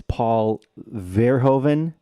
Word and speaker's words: Paul Verhoeven: Number 2, Elle, and I'm going to get his name wrong, is Paul Verhoeven.